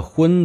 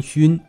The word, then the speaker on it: 荤: 佛经里的荤字不要读成熏，熏的意